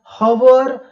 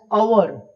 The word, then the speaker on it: hour: We pronounce not एज हवर बट we pronounce it एज अवर या आर।